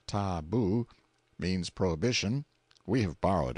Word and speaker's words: tabu: hiding places till the tabu pronounced ta-boo, means prohibition, we have borrowed it, or sacred.